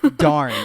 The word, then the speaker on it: Dan: Darn. It's pronounced darn.